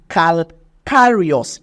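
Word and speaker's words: calcareous: that snail have calar pronounce with me how do you pronounce it it is calcario your calcarius exoskeleton is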